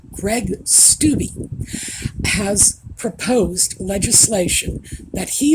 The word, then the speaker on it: Greg Steube: Congressman, Greg Steube, I looked it up, by the way, that is the proper pronunciation of his name, Greg Steube, has proposed legislation that he is calling the SPARE Act.